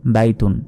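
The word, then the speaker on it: بيت: তুনের উচ্চারণ হবে না শেষ অক্ষরে এই সাকিন দিয়ে উচ্চারণ করতে হবে সাকিনের উচ্চারণ কিরকম এখানে বলতে হবে বাইত টেনে বললাম তারপরের শব্দটি দেখুন নুন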